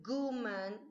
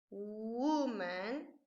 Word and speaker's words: woman: Aquí quiero que pongas mucha atención en la pronunciación porque no se dice guman ni gu, no es con G, es con U, woman and women, okay?